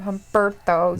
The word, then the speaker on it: Humberto: Roll your R's. Don't just roll them from Humberto. You roll it for Andrade too.